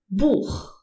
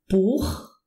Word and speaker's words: Buch: If the CH is preceded by an A, O, or U, you pronounce it H. It comes from here. H, as in Buch.